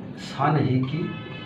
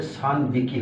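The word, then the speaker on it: 三匹: ছান যদি হয় তাহলে কি হবে, তিনটা যদি হয় তাহলে হঠাৎ ব হয়ে যাবে, সান হিকি, এটা উচ্চারণটা চেঞ্জ হয়ে যাবে, সান বিকি হবে, সান বিকি।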